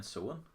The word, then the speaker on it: Samhain: It's spelled Sowin if you're gonna try and pronounce it, but it's actually spelled Samhain, which in Irish means November.